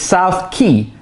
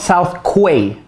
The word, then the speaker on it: South Quay: It's South Quay, not South Quay.